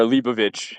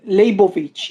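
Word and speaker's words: Leibowitz: Unrelated to Linet, by the way, or Lieovich. That's how it's pronounced. I think um um Labovich in Hebrew. Labovich.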